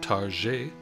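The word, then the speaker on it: Target: des grands magasins Targ tout le monde le prononce targer avec un accent plus ou moins français je ne plante pas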